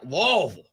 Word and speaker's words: Louisville: Oh, Louisville. That sounds. You gotta say it like you're sounds kind of nasty. Like you're a drunken British guy.